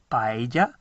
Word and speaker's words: paella: And they pronounce it paella because a double L is a y sound.